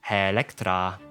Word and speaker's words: Electra: Once more for her real name, Electra.